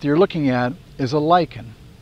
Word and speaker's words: lichen: Well, in many cases, what you're looking at is a lyken. It's pronounced lychen in the American English and lichen rhyming with kitchen in British English.